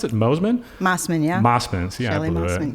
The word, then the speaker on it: Mosman: Do you pronounce it Mosman? Mosman, yeah.